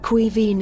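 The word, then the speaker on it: Caoimhín: Cuivine is how you pronounce it.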